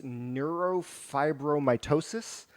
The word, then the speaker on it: neurofibromatosis: It helps to impact those with, I can never pronounce it. It's called NF, but it's neurofibromatosis. I think that's how it's pronounced.